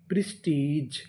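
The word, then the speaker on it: prestige: प्रिस टी आई टी जी ई। इसे पढ़ेंगे जा। प्रेस्टीज प्रेस्टीज।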